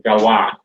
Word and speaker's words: Galois: Bacanya mungkin Galois ya. Kalau orang Prancis ya berarti bacanya bukan Galois tapi Galois. Galois. Évariste Galois ya. Galois tulisannya Galois.